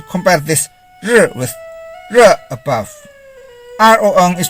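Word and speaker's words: ruan: this with ra above rong is pronounced as rom rou is pronounced as rho are you is pronounced as true r-u-a-n is pronounced as ron rui is pronounced as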